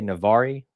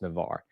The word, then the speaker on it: Navarre: being here as well calling in from navarre if that's how you pronounce it is it i always want to say nevari but it's navarre he says he'll thinks